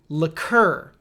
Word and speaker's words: liqueur: This word is liqueur. So liquor, liqueur. So you want to say the second part stronger. There are a lot of letters, but just say it like it's C-U-R. Like it's C-U-R. Imagine that. Liqueur. So you want to say this part stronger, liqueur, while the other stuff is liquor.